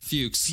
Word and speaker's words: Fuchs: It's Fuchs. Fuchs. Yeah. No, it is spelled as Fuchs. Fox, which is unfortunate, but yeah.